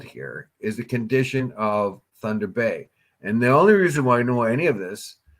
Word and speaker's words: Thunder Bay: Mike Cushman says it's Thunder Bay, not Thunder Bay.